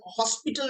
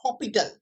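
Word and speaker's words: L'Hôpital: এল হপিটাল rule বলে, কোথাও কোথাও এল হসপিটাল রুলও বলা হয়, অ্যাকচুয়ালি উচ্চারণটা হপিটাল।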